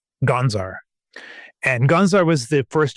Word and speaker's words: Gonzar: And it is after a town that I had stayed in called Gonzar. And Gonzar was the first, or Gonthar is how it's pronounced.